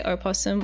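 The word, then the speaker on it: opossum: Do you say opposum or like opposum? Opposum. It sounds weird. Yeah. I don't know. Why is there just an O like Oh, those weird possums. The O is is silent.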